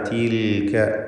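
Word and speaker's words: تلك: വമാ തിൽക. എല്ലാം ഇസ്തിഫാലിൻ്റെ ഹർഫുകൾ, ഒന്നിനും തഫ്ഖീമില്ല. ഷിദ്ദത്തും ഹംസും ഒക്കെ നൽകേണ്ടവയ അങ്ങനെ തന്നെ തായ് അങ്ങനെയുള്ള അക്ഷരമാണ്. ഒമാ തി തി എന്ന വ്യക്തമായ തായിൻ്റെ ഉച്ചാരണം കൊടുക്കുക. ഒമാ തിൽക.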